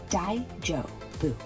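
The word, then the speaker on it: 大丈夫: Pronounce it daijobu.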